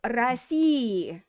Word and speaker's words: России: So something like Россия is going to go to России, and I'll say the e just so you can hear it, but most you would not hear that in spoken speech.